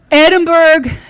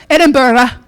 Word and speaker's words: Edinburgh: um then we took a train north to Edinburgh. I have a lot of stories about this, but I won't share them today. Uh they'll come up again. Oh my gosh, is all I can say. Edinburg. Edinburgh, let me say it right.